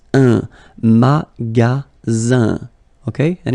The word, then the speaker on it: magasin: And then the ending here is IN, so it's nasal, it goes in your nose, and it's un, magasin, okay?